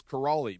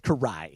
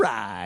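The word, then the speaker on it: Kiraly: I thought it was Karali because that's how it's spelled. There's an L there. Yes. He goes, it's Karch Karai.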